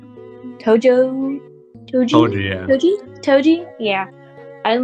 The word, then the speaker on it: Toji: Toji.